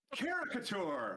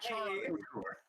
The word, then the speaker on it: Caricature: Caricature, not Charicature.